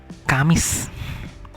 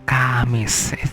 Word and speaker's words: Kamis: It's like the Spanish R, so it must be very clear that you pronounce R. So Rabu. It means Wednesday. Next is Kamis. Kamis is Thursday. So Kamis, it must be Kamis.